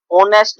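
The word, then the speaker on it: honest: ही सी ही is dash ऑनेस्ट बॉय, ऑनेस्ट क्या है, noun है, ऑनेस्ट एच है, देखो यहाँ पे कॉन्सोनेंट है, लेकिन साउंड किसकी आ रही है, ओ की आ रही है, ऑनेस्ट एच साइलेंट है, तो क्या है, एन।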